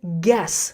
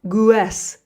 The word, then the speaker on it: guess: And the pronunciation is guess, not guest. The U is silent.